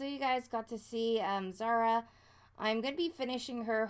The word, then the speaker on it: Zara: the way No um so it's felt like za RA Zara all these that's how we pronounce it well thank you well you guys